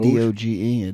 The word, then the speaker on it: Doge: don't know what doin that's how you pronounce it do d o g e Doge do that was way